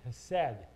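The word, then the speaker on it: חסד: His steadfast love is that called that hesed. You see it pronounced H-E-S-D or C-H-S-E-D, E-S-D. It's hesed. It's a Hebrew word.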